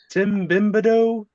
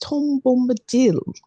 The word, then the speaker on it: Tom Bombadil: His name has not gone around that much, but Tim Bimbado? I believe it's pronounced Tom Bombadil.